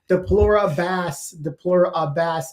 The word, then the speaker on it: Deplora Bass: It's Deplora Bass, a bass guitar.